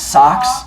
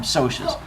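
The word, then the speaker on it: Socs: You guys are probably going to pronounce it as socks. Yeah. Right. But it's short for the word social, which is why they call them socias.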